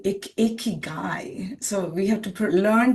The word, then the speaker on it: Ikigai: But the reason to talk about the Ikigai, we can also say Ikigai. So we have to learn to pronounce.